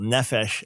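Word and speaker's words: נפש: the bible yeah emphasis so accent the first syllable nephesh and you got it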